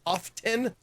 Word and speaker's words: often: me when you pronounced often when that was incorrect because the t is silent and often but now people have said it incorrectly so long that now often is the preferred way to say it the